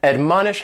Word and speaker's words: admonish: word is to admonish and admonish has three syllables and the stresses on that second syllable Mon admonish and this is a